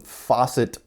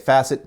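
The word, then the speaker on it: Facit: to use this awesome faucet punch again I've always been calling it facet but you guys let me know that it's pronounced with a long a anyways I load up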